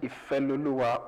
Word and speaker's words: Ifeloluwa: He is by the name IFELOLUWA OLUGBEBI. Did I OLUGBEBI? OLUGBEBI. Yeah, baby. Okay. Tell me what's the correct pronunciation? IFELOLUWA OLUGBEBI.